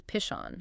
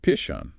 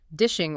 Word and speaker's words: Pishon: He said he used to mispronounce it as dishing or pushing as a kid.